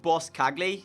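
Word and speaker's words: Boscagli: last episode that said this actually pronounced boss Cogley so it's call him boss instead so I've been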